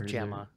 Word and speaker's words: Gemma: It's Gemma. I was saying Gemma last time we did a movie with her,